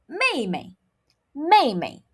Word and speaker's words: 妹妹: Younger sister is pronounced as 妹妹,妹妹.